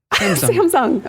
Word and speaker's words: Samsung: people saying Samsung wrong Sam's Sam's Samsung okay so the wrong and fastest on the wrong syllable yes okay next on